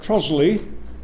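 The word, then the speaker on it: Trottiscliffe: um is moving from the george at trosley that's the correct pronunciation of it to the rising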